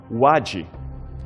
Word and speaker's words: wadi: Os egípcios o chamavam por outro nome, wadi. Esta é a pronúncia convencionada para esse símbolo hieroglífico no topo do cartucho e que significa papiro.